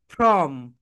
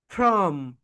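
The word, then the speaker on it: from: এই যে ফ্রম যখন উচ্চারণ করবে তখন তোমাদের উপরের দাঁত নিচের ঠোঁটের সঙ্গে টাচ করবে, বলো ফ্রম, ফ্রম, ফ্রম।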